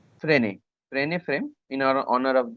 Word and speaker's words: Frenet: Frenet. Don't pronounce it Frenet. Frenet.